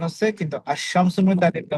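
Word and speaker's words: الشمس: সমিয়া বললাম আমরা আশশামসু আলিফ হয় না থাকলাম উচ্চ থাকবে এবং লামের পর হরফটা ডবল উচ্চারণ হবে আশামু আল কমারু এখানে আলিফ লাম উচ্চারণ হচ্ছে কিন্তু আশশামস আলিফটা উচ্চারণ হবে না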